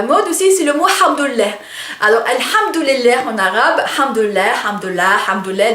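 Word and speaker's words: الحمد لله: Donc en fait c'est un mot assez drôle parce que on le prononce avec une lettre, avec un son qui n'existe pas en français, donc le ha, ça vient de la gorge, et ça fait quand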